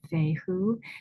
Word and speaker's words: Fehu: You know how to pronounce it. Feoo. Here's how it's it's spelled. Fe hu.